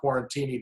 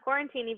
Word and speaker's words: QuaranTiny: I think people are saying QuaranTiny because they want to have a martini with their QuaranTiny.